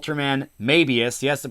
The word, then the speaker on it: Mebius: It's this show called Ultraman Mebius. Yes, the pronunciation is like the Japanese would say the strip, the Mebius strip.